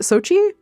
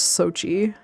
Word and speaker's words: Xochitl: No, it's so is it Sochi? Oh, geez, I don't know, because that's Xochitl. I'm almost 100% sure it's Sochi.